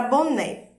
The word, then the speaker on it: boné: Boné! Perceberam que o né foi a sílaba que você mais prolongou? Essa foi a sílaba tônica.